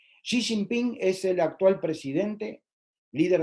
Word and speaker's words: Xi Jinping: segundo es el actual xi jinping que se pronuncia de esa manera xi jinping xi jinping es el actual presidente